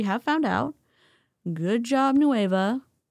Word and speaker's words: Nueva: Good job, Noea or Noev, whatever Margie said. I know it's noa.